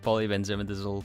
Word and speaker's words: polybenzimidazole: Yeah, I pronounced polybenzimidazole correctly. It's not polybenzimidazole, like I was saying.